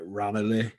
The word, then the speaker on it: Ranelagh: This I would pronounce it Ranelagh, but Ranelagh apparently.